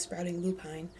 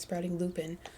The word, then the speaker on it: Sprouting Lupine: video from cat and she called her own business sprouting Lupine and I had been calling it sprouting loopin so I was wrong I'm sure Cat knows how to say her own business name so um my apologies if I led you astray by saying it wrong sprouting Lupine cat Nature's